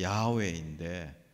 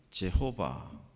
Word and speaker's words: 야훼: 그래서 The Lord라고 되어 있는 말에 이 말의 히브리식 발음은 야훼인데 이것을 오랫동안 영어식 표기로 제호바, 이걸 이제 한국말로 여호와 이렇게 불렀죠.